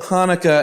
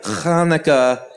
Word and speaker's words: Hanukkah: Actually, both Hanukkah and Hanukkah are right. The holiday's name is Hebrew, everyone. So there are different ways to spell it and say it in English.